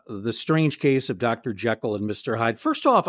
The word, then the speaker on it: Jekyll: He likes that rhyme, but that's just the way it's pronounced in Scotland. It's just Jekyll.